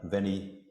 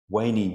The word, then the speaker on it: veni: And the most famous one is Latin, veni, or according to the latest understanding of the pronunciation, veni, vidi, vici. So not veni, it just sounds so much less authoritative.